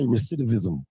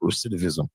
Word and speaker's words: recidivism: He would have been like the soraris and like that's how it be when I be trying to say recetivism.